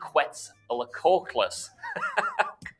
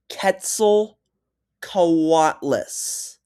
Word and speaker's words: Quetzalcoatlus: her team to do the same with the Quetzalcoatlus. oh come on, dude. Quetzalcoatlus. With the Quetzalcoatlus. Quetzalcoatlus. Quetzalcoatlus. Dude, you're not even trying. It's pronounced Quetzalcoatlus. Quetzalcoatlus.